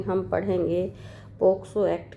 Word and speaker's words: POCSO: कुछ लोग इसको पोस्को एक्ट बोल देते हैं, पोस्को, तो ये बिल्कुल गलत है। और इसका सही प्रोनाउंसिएशन पोक्सो, क्योंकि देखिए सी आ रहा है, सी में के का प्रोनाउंसिएशन आ रहा है, इसलिए पोक्सो एक्ट है।